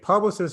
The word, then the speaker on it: Publicis: just like awful okay publicist is the correct way to pronounce that i say publicist some people say publicity i've heard so yeah i've